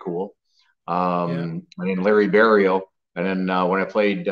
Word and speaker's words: Barriault: and it's pronounced uh in English it's pronounced burial but there's too many people that pronounce the iault at the end of it so I get a lot of burialt barolt um yeah so it